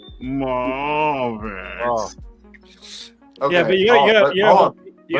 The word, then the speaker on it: Mafex: Acceptable ways to pronounce that are Mafex or Mafex. That's it. According to the distributor who had a conference call with the Mafex company, he said it's Mafex.